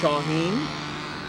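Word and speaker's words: شاهین: No, the phrase in Persian pronounced Shaheen.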